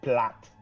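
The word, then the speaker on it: Platte: la région administrative de Platy, parce qu'on est vraiment très loin. Je pense que ça se dit plate. Pas mal ça se dit plate. Je vais le prononcer Platy, mais merci pour la proposition.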